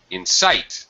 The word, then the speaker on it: insight: close the first one in sight the second one Insight first one has second syllable stress the second word has first syllable uh okay Roberto go